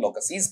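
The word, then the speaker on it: loci: Generally बच्चे गलती कर देते हैं। लोकसीज़ कर देते हैं। जबकि इसका उच्चारण है वो भी वहां पर इसका अंदाजा दे देगा कि ये बहुवचन नहीं है। लोकस का बहुवचन एबनॉर्मल मैनर में लौकी बनेगा।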